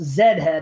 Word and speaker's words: Z head: Pronounced Zed head, of course.